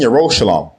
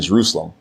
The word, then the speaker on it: Yerushalayim: In Mount Seon and in Yerushalayim, which are mispronounced as Zion and Jerusalem, will be deliverance, as Yahweh has said.